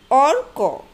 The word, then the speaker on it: অর্ক: কয় রেফ উদাহরণে দেখো অর্ক তর্ক সতর্ক একটু উচ্চারণটা খেয়াল করো অর্ক ক এর আগে কিন্তু র উচ্চারিত হয়েছে এবং ক এর উপরে